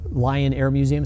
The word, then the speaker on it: Lyon Air Museum: media um so uh Lion Air Museum spelled with a y l y o n Air Museum uh